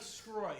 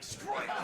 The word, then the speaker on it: Sgroi: My name is Sgroi. It sounds like you're choking. Sgroi.